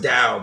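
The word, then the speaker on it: Tao: spell it down yeah it's pronounced dao but it's t-a-o you really shouldn't read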